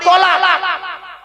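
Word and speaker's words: طلاق: তালাক নয়। তলাক। তালাক মানে জুড়ে যাওয়া। মিলিত হওয়া, একত্রিত হওয়া। আর তলাক মানে পৃথক দেওয়া, ডিভোর্স দেওয়া, ছেড়ে দেওয়া। আমরা তো তলাক না বলে সব তালাক বলি। এজন্য উচ্চারণটা ঠিক করুন।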